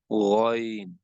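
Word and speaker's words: غين: It has to be uttered from the upper part of the throat. Visualize this part of the throat and start saying with me ghain.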